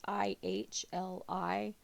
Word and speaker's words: Ely: Ely, is how I'm going to pronounce it. It's Ihli.